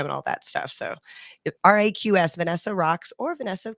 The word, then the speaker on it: Raqs: Cairo or Vanessa Raqs, which is not spelled the normal way. It'd be Raqs. Oh, I pronounced it wrong earlier. Raqs Sharki is the Egyptian word for dance.